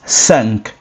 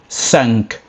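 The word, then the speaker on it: cinq: And then five is sank. Sank.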